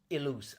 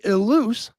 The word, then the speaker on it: Ilous: like name but no my real name is elus i l o u s all right well I promise I'm never gonna say it wrong again so one more time it is Terry eluz got it uh the